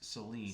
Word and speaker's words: Saleen: Now there are a lot more of those than there are of the Saleen, and it's actually pronounced Saleen. Saleen.